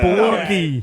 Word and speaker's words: Belushi: He's First a off, Bellucci. that's not how you. mean, would Belushi. pronounce Belushi. Belushi.